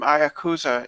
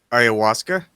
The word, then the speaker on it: ayahuasca: Yeah, you got to do some Ayakusa and get in touch with the machine elves.